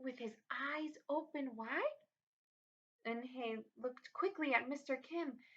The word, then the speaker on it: Eunhae: Eunhae looked quickly at Mr. Kim and turned to Joey. She nodded slowly. Yes, It's pronounced Eunhae, and it means grace, Mr.